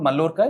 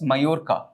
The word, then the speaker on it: Mallorca: It's pronounced as not Mallorca, it's Mallorca. Right?